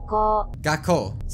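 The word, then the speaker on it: 学校: Gakkou.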